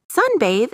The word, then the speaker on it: sunbathe: Sunbathe is stressed on the first syllable.